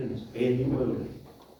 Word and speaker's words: Euler: de Euler, donde en Euler dice, mire, usted lo puede hacer de 3 maneras. Hacia atrás, central o hacia adelante. Por sintetizar el concepto. Leonhard Euler, o Euler, en realidad se pronuncia Euler.